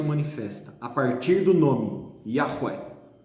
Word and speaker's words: Yahweh: Que na pronúncia hebraica seria Yahweh, que é o nome que